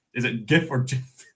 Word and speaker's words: GIF: GIF. Is it GIF or GIF? They pronounce it as GIF. Like George, I guess.